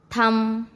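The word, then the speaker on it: thumb: Rule number 2, बी कब silent होता है? एम के बाद यदि बी आता है तो बी साइलेंट होता है। किसके बाद बी आए? एम के बाद यदि बी आए तो बी साइलेंट हो जाता है। जैसे कॉम, बॉम्ब, थम, बम।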